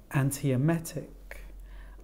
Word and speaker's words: antiemetic: on the first syllable antiemetic Okay so we've got five syllables in this word the stress falls on the fourth syllable analgesics and this time